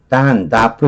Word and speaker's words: doff: 그래서 여기서는 다프 이렇게 발음해요. 다프.